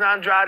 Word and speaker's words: Andrade: this fight you know last fight I said pronounce it Andre cuz I'm going against de Nickerson I was like man just say Andre now I think Benavides is Andrade is the way to pronounce this fight we we'll wrap